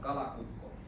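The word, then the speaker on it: kalakukko: What how do you pronounce it? It's called Kalako.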